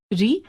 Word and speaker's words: ऋ: हिंदी में आकर इसका उच्चारण स्वर के रूप में समाप्त हो गया और व्यंजन र तथा स्वर इ के संयुक्त रूप ऋ र जमा इ के रूप में होने लगा है। इस तरह हिंदी में रिक्त और ऋषि शब्दों की पहली ध्वनि के उच्चारण समान हो गए हैं।